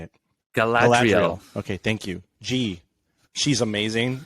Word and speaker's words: Galadriel: I can't even pronounce these names. Galadriel, how do you say it? Galadriel.